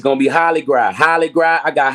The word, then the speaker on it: Hollygras: It's gonna be Holly Gras. Holly Gras. I got Holly Gras. I got Holly Gras 2.0. It's spelled like Hollywood, but Holly Gras like Mardi Gras.